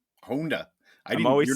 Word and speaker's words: Honda: off and say that we absolutely pronounce it wrong in America. It should be Honda. if you would pronounce the Japanese way instead of you.